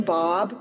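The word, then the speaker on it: Baab: my name's bob people always wonder how to pronounce my last name but it rhymes with saab cars so that's a good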